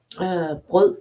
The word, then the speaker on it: brød: letter that makes it hard for you to pronounce because it's smørre, and then bread is brød is also with the same letter, so the letter is in the entire word twice.